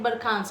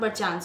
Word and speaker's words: Barkhans: It is pronouncing like Barkhans, not Barchans.